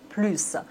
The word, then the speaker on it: plus: Vous voyez ici, on doit prononcer le S, plus.